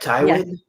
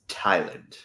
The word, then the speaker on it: Tyland: Yeah, she's like, Tywin? He's like, it's Tyland.